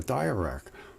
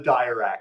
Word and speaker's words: Dirac: It's called a dirac. It's not called a dirac.